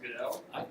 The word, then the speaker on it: Gödel: Gödel. Other people pronounce it Goodell.